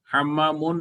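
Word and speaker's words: حمّامٌ: হাম্মামুন মিমের উপর 2 পেশ হবে, হাম্মামুন হচ্ছে একটি গোসলখানা।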